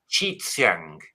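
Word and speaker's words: Qi Xiang: that we should be pronouncing it Chi Xiang. Okay, so then QI is Chi, and then the X is also like a TS maybe.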